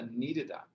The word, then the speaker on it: needed: Que a gente pronuncia o D com som meio de R, ó.